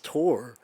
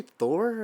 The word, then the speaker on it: Tor: His name is Tor. And Tor. whenever they say his name in it, I was like, did they say Thor? And then the guy was like, no, Tor, short for torrent was, I think, what he said.